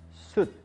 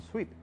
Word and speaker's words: suit: Recuerda que la pronunciación es suit. No lo vayas a confundir con suite. Eso es otra cosa.